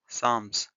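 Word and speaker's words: Psalms: work है letter day साम्स year P एंड एल E silent letters so you pronounce this words लाटर डे सा इनको बहुत सारा नोटेल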